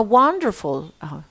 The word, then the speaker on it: wonderful: Reading bedtime stories to children is a wonderful, where is the R? No R. Wonderful. Look at that, Shwahi.